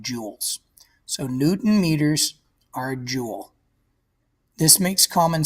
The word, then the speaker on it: newton meter: is called 200 joules we pronounce this Newton meters not Newton per meter an imperial it is